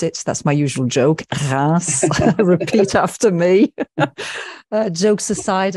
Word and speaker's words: Reims: You're all going to have to pronounce it. That's my usual joke. Reims.